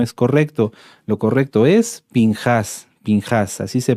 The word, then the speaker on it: Pinjás: Como les decía, se traduce como Finés, pero no es correcto. Lo correcto es Pinjas, Pinjas, así se pronuncia, Pinjas.